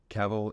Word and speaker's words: Cavill: it right is it cavil caval caval caval is pronounced like travel travel Kevin Kevin Wentz